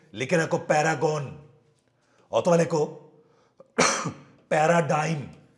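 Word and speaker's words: paradigm: রাখো প্যারাগন অথবা লেখো প্যারাডাইম পি এ আর এ ডি আই জি এম সঠিক উচ্চারণ প্যারাডাইম পি এ আর এ ডি আই জি এম প্যারাডাইম প্যারাগন অথবা কি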